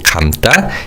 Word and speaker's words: 감다: Now in terms of pronunciation, 다 in 감다 is pronounced as 따. So it's 감다, 감다.